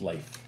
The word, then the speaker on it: Leif: So how do you pronounce it? Because I thought it was Leif. It's Leif. Leif.